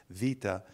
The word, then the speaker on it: beta: looks like a bee we say beta it's pronounced Vita but the idea is